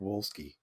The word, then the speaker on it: Wolski: 17 copies of Wojtek Wolski. So yeah, There's a name for you. if that tells you anything. And I think it'd be Wojtek because it's the W's are pronounced like a V.